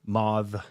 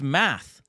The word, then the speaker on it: math: Mauve. Mauve. She was a completely English, like Canadian English. Right. English. Mauve. It's math.